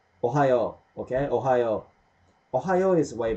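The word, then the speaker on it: おはよう: You better like pronounce it really, faster than I'm saying now.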